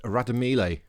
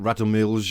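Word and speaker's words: Radomlje: how to pronounce again the J is silent it is pronounced radamili apparently not rattle Mills or whatever I was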